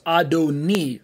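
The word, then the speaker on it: אֲדֹנִי: It suddenly becomes Adoni. Sounds like a different vowel at the very end. It looks the same without the vowels, but when we put in those little dots and dashes, we end up with a transliterated A-D-O-N-A-I, pronounced as Adon plus E.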